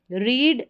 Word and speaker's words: read: रीड, रेड, रेड, देखिए तीनों spelling same है, लेकिन हम सेकेंड और थर्ड फॉर्म की बात करेंगे तो इसको रेड पढ़ेंगे, प्रोनाउंसिएशन जो है उसमें फ़र्क है।